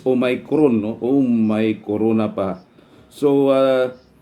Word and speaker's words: Omicron: Ang katuwa ang atong pronunciation ani is Omicron, no.